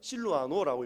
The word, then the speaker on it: 실로아노: 실라, 같은 동일한 인물인데 실로아노는 로마에서 사용하는 라틴어식으로 실로아노라고 읽고 헬라어로는 실라 이렇게 읽습니다.